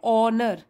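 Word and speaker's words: honour: तो यहां पर देखिए ओनर एच साइलेंट होता है ओनर लूना बिर्टन के सम्मान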